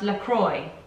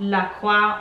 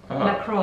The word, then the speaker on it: La Croix: is everyone's pronouncing the bran wrong la is pronounced la croix not la cua or la cra la croix and croy did we say that no was